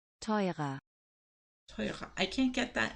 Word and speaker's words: teurer: Expensive is teuer, teuer, and then more expensive, teurer. teurer, Teurer.